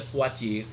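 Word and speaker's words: Poitiers: batalha de pote e se escreve poi Thief mas a gente pronuncia Portier 732 Carlos Martel derrotou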